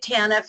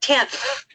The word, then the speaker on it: TANF: And I say it TANF, and if you say TANF, then I know what you mean, but there are people who make it a one-syllable word, TANF. Oh, I didn't know And then there are people who put the stress on the last signature, TANF. And it just sounds so bizarre to me.